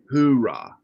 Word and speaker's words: Oorah: So, Oorah 1-5. Oorah. Yeah, and I tell people that's the different way. Marines don't know how to pronounce H's, so they go Oorah. U.S. Army is hoorah, which once you become